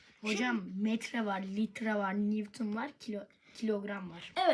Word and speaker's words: Newton: Bu Newton diye okunur ama pardon yazılır ama sakın Newton diye okumayın. Newton diye okunur.